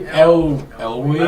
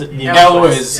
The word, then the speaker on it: Elwes: Carrie Elway? I was right about this. Elwes, yeah.